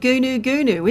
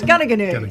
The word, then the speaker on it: Goonoo Goonoo: It's not Gunnoo, is it? No, it's Gaganu. Thank you very much. So why don't they spell it that way?